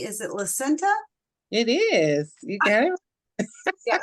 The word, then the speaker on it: Lasenta: our amazing speaker um and I hope I'm pronouncing this correctly is it lenta it is you got yeah I always ask